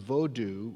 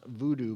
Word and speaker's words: Vodou: he wrote specifically that the religion of vodu which is sometimes pronounced Voodoo by Outsiders is to blame he